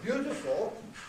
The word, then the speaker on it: beautiful: If it's not that, then it doesn't have this vowel, and it loses it. So it's beautiful, hopeful, and so on, then there isn't a clear vowel, it's just that's an aside.